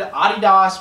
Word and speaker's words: Adidas: Um, so but I'll bet you at the same time when it comes to shoes, Nike, Jordan Brand, Adidas, which is how it's actually pronounced, uh, those companies see